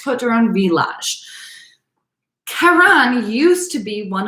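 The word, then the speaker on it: Côtes du Rhône Villages: de Rhône Village, or it looks like Côte de Rhône Villages, but it's pronounced Côte de Rhône Village.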